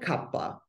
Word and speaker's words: Kapha: We call it Kapha.